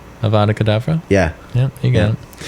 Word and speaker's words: Avada Kedavra: Avada Kedavra?